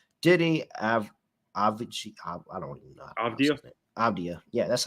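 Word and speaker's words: Avdija: Avdia. Yeah, that's how you say it. Avdia.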